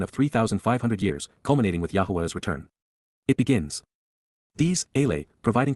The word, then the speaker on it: Yahowah: narrow path which give meaning to life, which, YAHOWAH, the proper pronunciation of the name of Eloah.